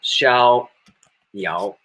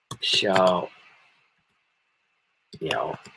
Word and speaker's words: Xiao Yao: Xiao, X is pronounced as sh, sh, sh. It's between she and, how to say? Sh, sh. We don't have that pronunciation. She. Your feet are, teeth are biting the back teeth. She, sh, not sh. She, she, then I-A-O, like yao, ow.